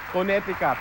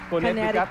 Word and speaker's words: Connecticut: Sana pag meron akong naipong pamasahe pupuntahan kita sa Coneticat. It's pronounced Connecticut.